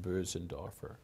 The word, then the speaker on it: Bösendorfer: I bought a piano I bought myself a Bösendorfer piano. I guess it's actually pronounced Bösendorfer.